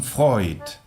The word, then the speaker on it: Freud: Cuando tengamos el diptongo EU, lo pronunciaremos OI. Neun. Como Sigmund Freud.